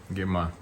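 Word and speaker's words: ngima: Gima. Unga wa ugali. Ungali. Oh gosh, yeah. Yeah, bad pronunciation.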